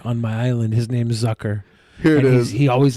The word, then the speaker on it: Zucker: ruin our joke okay z in german is pronounced t.s stop being such a